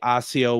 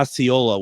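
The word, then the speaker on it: Iola: Now, did Deb not say AIO, Wisconsin on Wednesday? Yeah. And I could have swore she had pronounced wrong. Yeah. Oyola. Katherine uh Katherine uh has corrected us kindly and I appreciate that. Uh Ayola, Wisconsin. Deb did say AIO though.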